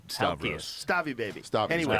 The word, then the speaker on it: Stavros: Just say Stavros.